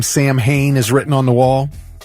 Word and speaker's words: Samhain: I've heard Sam Hain many times. In other movies, I've heard about Sam Hain. Guess what? What? It's pronounced Samhain.